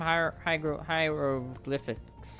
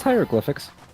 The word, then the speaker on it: hieroglyphics: I pronounced that wrong, but it's fine. No, it's it's it's hieroglyphics. All right. Thank you. Well, hieroglyphics refers to the language. Uh hieroglyphs refers to the actual things.